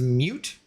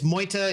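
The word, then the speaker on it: Meute: Because I was like, what is mute? But no, it's Moita. It's German.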